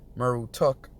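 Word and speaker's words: Marduk: right all right Kahn the name Murdock was probably pronounced mur who took the etymology of Murdock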